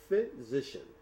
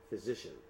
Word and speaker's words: physician: از اون خاطر است میگن که PH is F. Physician. Physician.